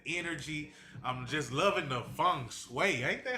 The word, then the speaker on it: feng shui: I'm just loving the feng shui. Ain't that how they say it? It's feng shui indeed.